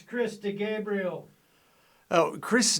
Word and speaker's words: DeGabriele: certain chris de gabriel is that how you pronounce it it's chris de gabriel oh chris d is that a middle initial